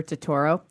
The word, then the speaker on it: Totoro: DVD of my neighbor to Toro it's a Troma release ha I kid you not my neighbor I think it's pronounced Totoro Totoro that's it's a Troma release I